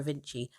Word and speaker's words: Avicii: On the day of recording this podcast, it's I don't know if you say Avicii or Avinci. I believe it's Avicii.